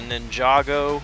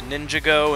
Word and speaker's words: Ninjago: She put the emphasis on the wrong syllable, but...